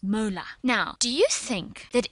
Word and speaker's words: molar: And a mole per decimeter cubed is more briefly written as m, just plain capital M, which is pronounced molar.